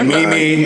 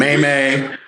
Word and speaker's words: meme: Like oh a meme is it's like a mimi. Nobody know how to how to pronounce it. There was people that would say mimi and maymay.